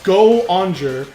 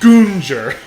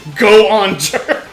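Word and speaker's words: Goonger: So this is a engine senti goer which yes it's goer because it's spelled go o dash o n g e r. No it is not goner. It is goander.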